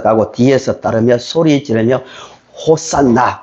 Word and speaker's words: 호산나: 뒤에서 따르며 소리 지르며 호산나 구약 발음으로 정하게 말하면 호시아나 호시아나 우리를 구원하소서 지금 우리를 구원하소서 외쳤습니다.